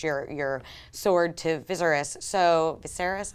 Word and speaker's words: Viserys: So Viserys, I always mispronounce that. Viserys.